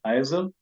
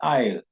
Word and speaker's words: isle: solve me to be tempted to think that it is isil is not isil the word here is isle I'll accounts for Island